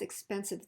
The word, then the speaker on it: expensive: Now we know that the second to the last syllable is stressed because remember when we add an I suffix like IVE, it's the syllable right before it. You learned that a few chapters ago. So expensive, expensive.